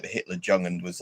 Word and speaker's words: Jugend: Because again, in like German, a J is a Y, like Junkers is actually Junkers in German, for example. Like Jugend is, yeah, like Jungen, like the Hitler Jugend was like the Hitler Jugend.